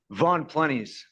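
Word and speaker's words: Von Ploennies: How do you pronounce your last name, sir? Von Plennies.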